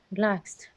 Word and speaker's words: relaxed: yeah okay relaxed second the second syllable is stressed relaxed frightened okay sir concern